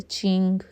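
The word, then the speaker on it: Qing: Next question है golden period of किंग rule was यह you know ये क्यू से भी लिखा जाता है। चिंग किंग ची से ही वैसे इसे प्रोनाउंस किया जाता है।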